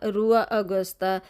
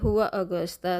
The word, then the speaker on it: Rua Augusta: ये होसियो कहते हैं, क्योंकि आर को ये एच प्रोनाउंस करते हैं। अगर मैं हुआ हम लिखते हैं कि पढ़ेंगे ना रुआ अगस्ता, लेकिन ये लोग कहेंगे हुआ अगस्ता। तो ये साथ साथ मैं आपको पुर्तगीज़ भी बता रही हूँ कि आर को जो है ये एच प्रोनाउंस करते हैं, एच की तरह।